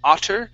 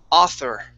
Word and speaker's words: author: Give me a good TH sound. You said otter. It's auth. Author.